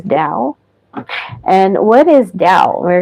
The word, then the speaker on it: Dao: Dao is balance okay you see d t this is pronounced as Dao and what is Dao